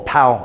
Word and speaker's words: pav: a Indian bread called a pav paav or pow as they pronounce it it's not exactly the